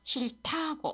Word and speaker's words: 싫다고: 다예요 그다음에고 is prce 싫타 싫타고 이렇게 됩니다 여기 히이 옆으로 가서 그래요 오케 싫타고 비즈 어 설명을 굳이 하자면요 디스원 실 플러스 어 받침 히읗 하고 디귿 1요 디귿 소리가나요 이렇게요 귿 소리가 나 나거든요 그다음에 고예요네 이렇게요 자